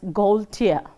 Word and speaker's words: Gaultier: It is pronounced as Gaultier. So, you know Gaul, then you break it the other one as Tier.